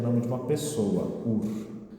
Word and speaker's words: Hur: Mas aqui é o nome de uma pessoa, Ur.